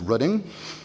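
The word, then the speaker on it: Rødding: Reform movement sorry uh this one's in it's pronounced rudding and that that building is still there it's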